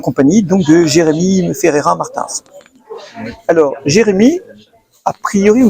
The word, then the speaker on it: Martins: Bonjour Jérémy Ferreira Martins, comment ça qu'on prononce?